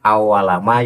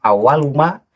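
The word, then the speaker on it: أول ما: itu benar-benar ada, itu cara membacanya bukan awalama yas'alani fil qabri ani. Yang benar adalah awaluma yas'alani fil qabri ani.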